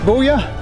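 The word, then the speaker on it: Boulia: just popped into buoya i think it's pronounced bullia which is only about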